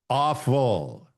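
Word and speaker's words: AWFL: That acronym is AW. How does he pronounce it? Awful.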